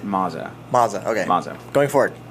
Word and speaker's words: Maza: Bill O'Reilly came from uh they pronounce it Maza.